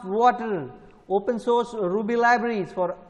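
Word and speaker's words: Watir: Then Water, pronounced Water, open source Ruby libraries for automating web browsers.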